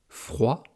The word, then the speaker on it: froid: Froid, le féminin, c'est froide. Là aussi, à la fin, on entend le de.